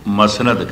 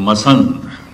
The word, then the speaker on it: मसनद: अमरदास जी ने चलाई इस तखत न फारसी दे मसनद कह इही पंजाबी अपर भ्रंश हो के उच्चारण हो गया मसत शब्द ते मसनद है अल्फाज ते मसनद है लेकिन मसंद मसनद ते बैठने वाला